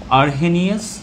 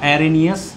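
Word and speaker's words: Arrhenius: একটা মতবাদের নাম হচ্ছে আরহেনিয়াস বা অ্যারেনিয়াস অনেকে যেভাবে উচ্চারণ করে আরহেনিয়াস বা অ্যারেনিয়াস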